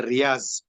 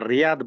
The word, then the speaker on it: Riyadh: will pronounce as a Riyaz. Even if it is in English also, we will read it is a Riyadh, but they will speak Riyaz because of the letter pronunciation in our Asian countries.